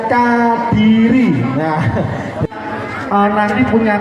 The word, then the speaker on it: Kadiri: Nah ini bacanya Kadiri.